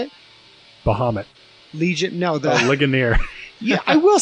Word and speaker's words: Ligonier: Laganera. Was it? How do you say it? Bahamut. Legion. No. Ligonier.